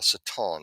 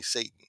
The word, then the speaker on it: Satan: the chief adversary who we call saton that's how you properly pronounce his name but saton the adversary or some say Satan but Satan uh uh